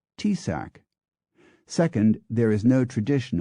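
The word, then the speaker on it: Taoiseach: may need further work first oi is not pronounced oi in Gaelic T AO i a c is pronounced tsac second there is no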